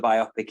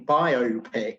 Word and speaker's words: biopic: in different ways, and I always favour the pronunciation biopic, because I presume that the word is derived from the phrase biographical motion picture, but a lot of people use your pronunciation these days and go biopic.